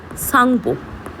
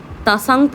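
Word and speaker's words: Tsangpo: এক নম্বর নাম হচ্ছে সাংপো। আচ্ছা ইংরেজিটা আমি লিখে দিলাম কারণ ইংরেজির নামটা না টিটা আমাদের সাইলেন্ট থাকে। তাসাংপ আমরা উচ্চারণ করবো না। আমরা সাংপ উচ্চারণ করব।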